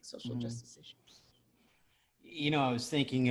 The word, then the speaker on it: Issuu: It's Issue spelled like ISSUU.